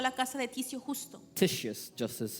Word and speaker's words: Titius Justus: Entonces salió de ahí y fue a la casa de Ticio Justo, Titius Justus is the right way to say it.